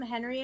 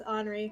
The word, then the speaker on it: Henri: I keep calling them Henry in my brain because that's how it's spelled, and I'm like, no, it's Henri. It is Henri. It's just hard H. I'm so American, unfortunately.